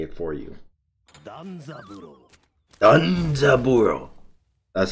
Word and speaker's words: Danzaburou: DANZABUROU.